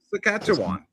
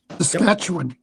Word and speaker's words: Saskatchewan: Tim P says, we get Yankee transport trucks in Alberta all the time, being next door to Saskatchewan. Yeah, is that how you pronounce it? Saskatchewan. Saskatchewan?